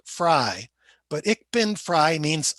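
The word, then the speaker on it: Frey: Now, F-R-E-I and F-R-E-Y, the family name, are both pronounced Fry.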